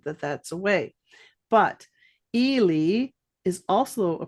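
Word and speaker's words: Ely: Eli I understand that that's a away but El is also a pronunciation of e ly and my Chinese name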